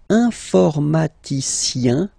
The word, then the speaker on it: informaticien: And the last group is IEN, informaticien, yin, yin, yin. So that's the way to pronounce this IEN, yin, yin.